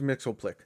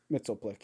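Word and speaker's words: Mxyzptlk: sleuthor Bizarro Mr mitzeplic yeah that's how you pronounce that name yeah Mr Mitchell Plick Mitchell Plick yep yeah um it's a bunch of just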